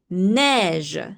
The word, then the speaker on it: neige: EI have the sound of E as well. E, for example, in neige, snow, same pronunciation.